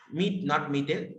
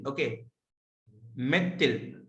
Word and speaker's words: methyl: Not methyl. It should be pronounced as methyl. Okay, methyl.